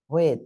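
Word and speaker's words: حاء: বাট উচ্চারণটা একটু পার্থক্য আছে। গলাটায় হাত দেবেন, ঠিক আছে। এই হাত দিয়ে হালকা একটু চেপে ধরে উচ্চারণ করবেন, অথবা গলার ভিতরে চেপে হ্যাঁ, হ্যাঁ, হ্যাঁ, হ্যাঁ,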